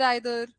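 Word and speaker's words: either: सो रादर रादर, शेड्यूल स्केड्यूल, नीदर नाइदर, ईदर आइदर, है ना?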